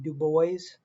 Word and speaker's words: Du Bois: washington and uh w.e.b du bois that's how the name is pronounced like the boys in the hood um so uh this